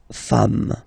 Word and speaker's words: femmes: at the singular form, and then you just add this s at the end, and as we said, you don't pronounce it, so you get des femmes.